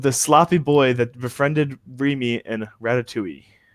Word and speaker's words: Remy: What is the name of the sloppy boy that befriended Remy in Ratatouille? It's pronounced Remy.